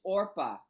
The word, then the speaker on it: Orpah: I'm sorry Oprah. for interrupting, Mr. Chairman, but can we correct the record? The name is not Oprah, it's Orpah. O-R-P-A-H, and that's how Yes. it's spelled on the appeal.